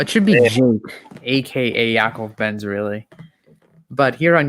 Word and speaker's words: Yaakov: the aka well it should be joke aka yakov benz really but here on youtube it's it's